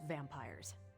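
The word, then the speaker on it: vampyres: vampires with a Y pronounced exactly the same as vampires I suppose that was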